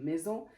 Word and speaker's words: maison: elle se prononce z comme maison, cerise, cousin, poison aussi c'est pareil, c'est entre deux voyelles donc elle se prononce z, elle se prononce pas s.